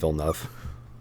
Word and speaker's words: Villeneuve: right i have no clue dude i just villenev it's different every time for me evan help me it's denis vilenov denis villeneuve okay i was close i was close the